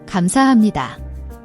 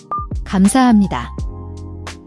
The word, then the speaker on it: 감사합니다: The B/P at the end of gam and the H in hap can be tricky.